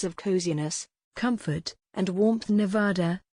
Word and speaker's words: Nevada: around the ideas of coziness comfort and warmth nevada nev ad r the u.s state known globally for its largest